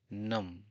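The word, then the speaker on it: numb: यहां B silent है तो हम इसे प्रोनाउंसिएशन करेंगे नम इसका मतलब होता है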